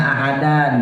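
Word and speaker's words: أحدا: Tulisannya ahadan, dibacanya ahada. Namanya mad iwad.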